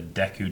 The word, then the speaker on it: Deku: talker of time and there was always the Deku Tree now I knew it is pronounced Deku from playing rest a while cuz that's voice acting in it when I was a kid I always called it deco mmm-hmm everyone did yeah I just watched a